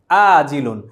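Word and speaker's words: آجل: আর বাকি, ইন্টারেস্টিংলি বাকি শব্দটির আরবি একই শব্দ, শুধু নগদের আরবিটি আমরা পড়েছি আইন দিয়ে আজিলুন, আর বাকির আরবি শব্দ হচ্ছে হামজা দিয়ে আজিলুন।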